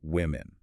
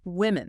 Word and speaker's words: women: In the plural form, even though it is written with an O, we pronounce it with a short I sound like ham or swim becomes women.